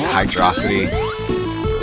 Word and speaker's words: Hydrocity: to people pronounce it I pronounce it Hydro City other people pronounce it hydrosity but I don't really